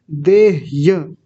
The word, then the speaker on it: देह्य: देह बोल रहा है तो इसको बोलेंगे दे आधा ह और य य का तो उच्चारण पूरा आना चाहिए क्योंकि पूरा लिखा हुआ है यहां पे देह य देह य देह य ह आधा आधा है तो आधा ही उच्चारण आएगा उसका देह्य देह्य ऐसा बोलेंगे और [गला साफ़ करने